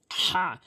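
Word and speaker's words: ح: এখানে বড় হার জায়গায় বড় হা উচ্চারণ করতে হবে। হলকের মাঝখান থেকে চাপ দিয়ে এভাবে হা এভাবে উচ্চারণ করবেন।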